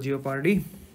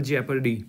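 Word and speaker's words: jeopardy: ये double जियोपार्डी, double हमारे यहाँ जियोपार्डी बोलते हैं सब लोग, but that is इफ यू से in proper pronunciation it is double जेपर्डी.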